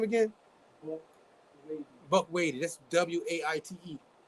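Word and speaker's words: Waite: Buck Wady.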